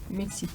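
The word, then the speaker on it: Мексика: The stress is on the first one, but at the end there is like also E. Mexico. There is Mexico. Like the E is more like. You pronounce it, but like very, very light. Yeah, it's almost unheardable. Yeah. Mexico. But you still have to pronounce it.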